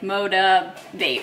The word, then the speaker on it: Motiv8: the brand motivate and it's spelled with a number eight so it's like motivate which I thought was